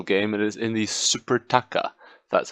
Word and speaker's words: Supertaça: our first meaningful game it is in the supertaça that's how you say it this is the